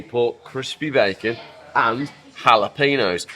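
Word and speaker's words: jalapeño: pork crispy bacon and jalapeno not jalapenos cuz there's no J in the Spanish language that's why if you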